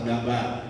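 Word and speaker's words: דבר: Bahasa Ibraninya jadi ini bahasa Ibraninya bacanya dafar atau dabar. Baca apa? Dafar atau orang lain kali bilang dabar.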